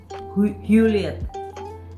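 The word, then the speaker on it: Huleatt: Bila Pak dan Bu Hewlett, tulisannya H-U-L-E-A-T-T, H-U-L-E-A-T-T, Hewlett, berkunjung.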